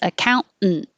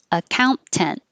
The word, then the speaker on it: accountant: can say account and make no tea just make the noise accountant or you can keep the t account tent account tent peonies peonies marguerite